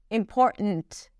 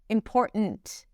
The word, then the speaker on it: important: It's a glottal stop. And then she releases the T. It's not a held T when she pronounces it. It's just t. Important. Important.